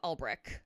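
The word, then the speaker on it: Ulbrich: The NFL fined Jeff Albrich, am I pronouncing that right?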